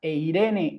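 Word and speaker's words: εἰρήνη: Todos se juntan las dos vocales y se pronuncian tal cual uno esperaría. Este diptongo, por ejemplo, aparece en la palabra eirene en griego, eirene.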